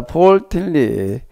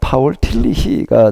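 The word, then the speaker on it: Paul Tillich: 첫 번째 주제가 뭔가라고 하게 되면은 자 폴틸리에 미국에서 주로 많이 활동을 했고 그러다 보니까 이제 미국식으로다가 좀 발음들을 많이 하는데 폴틸리라고 그러고요. 폴틸리 근데 독일식으로 바음을 하게 파울틸리가 되겠습니다.에 시스템모틱 시스템이라 조직적인 신학 조직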